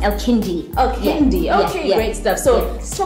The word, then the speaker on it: Elkindiy: Is that how it's pronounced? Elkindiy. Elkindiy.